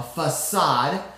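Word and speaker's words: façade: de but it's really a french word it has that little curlicue on the bottom of accents circumflex as my french teacher mom would say a facade which definitely shows that it has a soft c sound a facade is an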